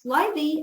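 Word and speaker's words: slithy: instructions on that point pronounce slightly as if it were the two words Sly the make the G hard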